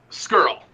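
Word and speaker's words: Scurll: Skrull.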